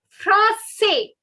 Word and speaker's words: français: Je suis français. If a French boy is saying this, he won't be pronouncing the last S.